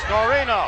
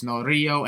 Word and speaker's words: Norio: Also, Vince, if you want to pronounce their names properly, it's Norio and Itsuki. And you said Norino when there was clearly no N before the Y or the last O.